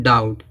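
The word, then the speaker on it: doubt: बी आया है जब टी से पहले बी आएगा तो बी क्या होगा साइलेंट होगा इसको क्या पढ़ा जाएगा डाउट ठीक है डाउट माने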